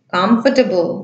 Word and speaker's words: comfortable: Comfortable. Да, наголос іде нас на перший склад.